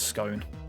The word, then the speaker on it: scone: How do you pronounce scone? So, rhymes with gone.